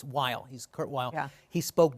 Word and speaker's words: Weill: as American as possible he changed the pronunciation of his last name not the spelling but now it's while he's Kurt while he